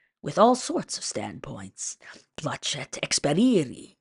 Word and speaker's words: placet experiri: Placet experiri, he said, pronouncing the sea of placets with the soft Italian ch.